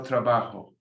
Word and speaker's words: trabajo: Remember the J is rough. If you have a problem, you can make it an H sound. El trabajo.